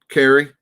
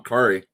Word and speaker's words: Kaare: so uh this this cat carry kari sorry saying it wrong kari stupid you all um